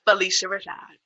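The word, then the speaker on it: Phylicia Rashad: yes i feel like i'll be hearing it pronounced different okay it's felicia rashad um she played mother auntie she at the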